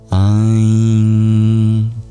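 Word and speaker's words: ऐं: Aim is Saraswati's essence. It is said that divinities have a sound that resonates with her essence. For her, it's Aim.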